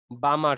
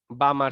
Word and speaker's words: Balmer: যদি এটা হয় তাহলে আমরা সেটাকে বলবো হচ্ছে বামার সিরিজ। বামার সিরিজ, ঠিক আছে, BALMER, এখানে এলটা উচ্চারণ না, বামার সিরিজ বলা হয়।